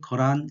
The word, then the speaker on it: 거란: 그렇게 하지 않죠 4 이것은 거란 이라고 읽어줍니다 그래서 이건 그 아니라고 그대로 읽어 주시면 됩니다 개의 단 붉을 단 요렇게 하지 말고요 거랍니다 자 그 라는 시이다